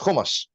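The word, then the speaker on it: hummus: so for people like heard okay so it's pronounced kumus okay got it there's a huge thing on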